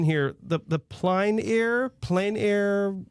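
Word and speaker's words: plein air: The the ple air plane air. How do you pronounce this first of all and then like a 30,000 foot view? What is it? Yes. The Plain Air Art Festival.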